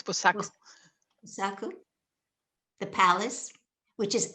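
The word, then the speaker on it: Buçaco: Am I pronouncing it correctly? Yes, it's correct. It's Busaco.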